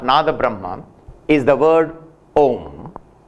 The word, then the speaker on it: Om: This primal revelation of Nada Brahma is the word Om, written and pronounced as a conjunction sandhi of three equally self-dependent sounds of A, U and Here we observe that